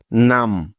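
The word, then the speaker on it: numb: উদাহরণ দেখে নেয়া যাক যেমন এন ইউ এমবি নাম তো দেখো কিভাবে এই শব্দটিকে বানানো করে পড়তে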